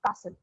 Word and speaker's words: castle: ठीक है, आपको T pronounce नहीं करना है, it's just CASLE. आप कैसे बोलोगे तो castle, okay?